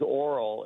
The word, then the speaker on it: Orel: But I'm My name's Oral, and I say the O really quick.